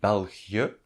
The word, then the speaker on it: België: The 2 dots on the België are there for pronunciation reasons, and the double dot is always there for pronunciation reasons. It means that the vowel just before and the vowel on which it stands should be pronounced separately.